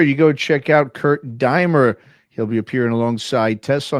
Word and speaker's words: Deimer: okay well it's it's Kurt k r t dier d i m r pronounced dier you can Google my